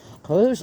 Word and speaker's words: Rhos: go so trillo hat rose on SE pronounced Rose r h o s so there we go